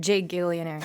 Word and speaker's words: Gigillionaire: And by the way, Gigillionaire is G-I-G, all capitalized. I pronounce it Gigillionaire.